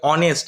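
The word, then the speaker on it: honest: দেখো কি আছে অনেস্ট এটা কিন্তু হনেস্ট উচ্চারণ হয় না ওই জন্যই বললাম যে উচ্চারণ করাটা শিখতে হবে এখানে যারা উচ্চারণ জানে না কি হবে এটা দিকে তাকাও এইচ ও এন ই এস টি এটা উচ্চারণ যারা জানে না প্রোনাউন্সিয়েশন এটা কি হবে জানে না তারা কি উচ্চারণ করবে হনেস্ট উচ্চারণ করবে যে ভুল কি বসাবে সামনে এ বসিয়ে দেবে তাহলে কিন্তু ভুল হয়ে গেল এটা উচ্চারণ কি হবে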